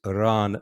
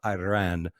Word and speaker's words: Iran: people but uh you continue to pronounce our country incorrectly it's Iran not Iran you know the guy's